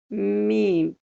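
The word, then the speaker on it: ميم: This sound is exact match for the letter M in English. So M and Meem, Meem. It's not hard, it's very easy to pronunciate.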